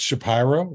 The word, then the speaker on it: Shapiro: Well, there's a guy that Frank knows who he has a mysterious pronunciation of the word Shapiro, and right, it's Shapiro, right?